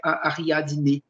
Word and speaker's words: Ariadne: Et en grec ancien, il me semble que c'est Ariadne, comme on le prononce en portugais.